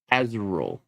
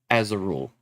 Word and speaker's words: Azharul: Zymor, Azurul, Faluzar.